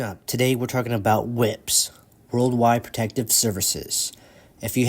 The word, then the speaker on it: WPS: as worldwide Protective Services also known as whips which is pronounced whips is a program through